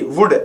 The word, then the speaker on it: would: यू आ रहा है, COULD, तो कुल्ड नहीं कुड, WOULD, वुल्ड नहीं वुड, SHOULD, शुल्ड नहीं शुड, तो OU आए या ए आए एल से पहले, तो इन दोनों कंडीशन में एल साइलेंट होगा।